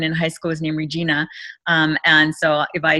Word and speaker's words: Rhegina: to me when i look at that it's regina and it kind of takes me back to